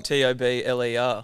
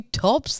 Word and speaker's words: Tobler: hold on hold on t-o-b-l-e-r you telling me your last name is pronounced tobler yeah sorry oh God why have we been calling you tops the entire time because